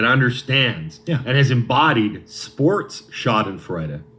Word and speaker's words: Schadenfreude: I believe it's pronounced Schadenfreude. What did I say? Schadenfreude? Yeah. Peter Schadenfreude? Yeah. Schadenfreude. Schadenfreude. I believe it's a German word.